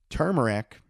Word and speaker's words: turmeric: support your immune system turmeric which i said it right most people say it wrong for post-workout soreness um